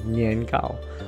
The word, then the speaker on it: 年糕: during this time is nian Gao or roughly translated as sticky cake in Chinese sticky is pronounced the same as the word for year and cake also has the same pronunciation as high so this punny dessert